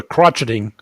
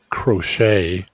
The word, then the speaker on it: crochet: massaging well okay the the crotching I'm sorry crochet if you want to go around pronouncing it correctly fine but yeah the